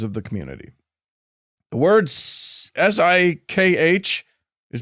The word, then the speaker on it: Sikh: So if members of that community have asked you to pronounce it Sikh, not sick, by all means, yeah.